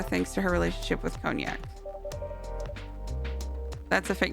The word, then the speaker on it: Cognac: Let's call him Cognic. Cognac. Nope. Nope. Nope. I did not pronounce it wrong the first time.